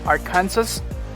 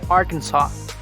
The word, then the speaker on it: Arkansas: right into it arkansas it's not arkansas it's arkansas colorado colorado it's not colorado